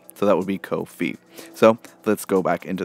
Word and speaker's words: Ko-fi: code file you ask it rhymes with no fee so that would be co-fee so let's go back